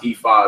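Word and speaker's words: Ifá: This Ife, you will see this spelled like this as well, but that's actually pronounced Ifa as well.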